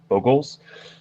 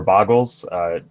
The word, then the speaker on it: Bogles: For anyone that's played a good amount of Magic, there's some decks called Bogles or Boggles. There is no agreed upon pronunciation, but you essentially put out a guy, like a small 1/1.